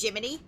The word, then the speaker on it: Gemini: Jiminy is uh the little guy attached to my butt. It's spelled like Gemini, but it's spel pronounced Jiminy.